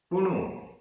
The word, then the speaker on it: पुणु: जम, जम, पुणु, पुणु, दो छोटे उ की मात्रा है, पुणु।